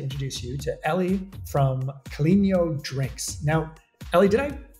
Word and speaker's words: Caleño: It's Caleño, so it's the tilde over the end just gives it that extra ño. It's a Spanish name. Caleño.